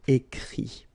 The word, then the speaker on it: écrit: Remember that even if you've got this final T, you don't pronounce it, so it goes like écrit.